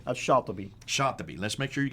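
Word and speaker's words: al-Shatibi: Now, how would you pronounce his name? Shatibi.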